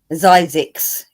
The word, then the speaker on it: Zzyzx: Zizix, it's pronounced.